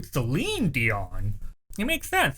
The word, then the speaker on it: Celine Dion: Or it wasn't Cleon Dion, it's actually Celine Dion.